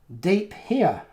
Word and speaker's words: De Pere: pere in Wisconsin PS de pair is pronounced deep here is that this is